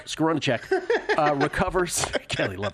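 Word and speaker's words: Skowronek: you pronounce that again scar that's your guy scaron scaron uh recovers Kelly love pronouncing that guy's name Pittsburgh set up at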